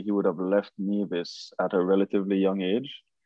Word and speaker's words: Nevis: And it's pronounced Nevis. Yes. Not Nevis.